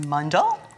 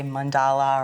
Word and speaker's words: mandala: making a mod yes pronounced mundal properly in hindu but in america we say mandala or mandala the first thing i